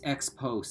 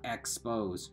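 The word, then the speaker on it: exposé: need first of all it's expose say sir Burns said not expose Jesus you can at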